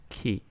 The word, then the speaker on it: chi: It's pronounced chi.